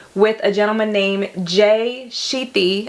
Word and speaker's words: Shetty: a gentleman named Jay Shetty. I think is how you say his last name. It's S-H-E-T-T-Y.